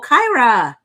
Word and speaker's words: Kyra: Rhymes with Tyra. Oh, Kyra.